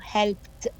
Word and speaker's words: helped: write it اي دي، ولكن when we say it او نعمله pronouncing بنقوله helped. يعني الاي دي بتتنطق الساوند بتاعها زي التي فبيبقى helped.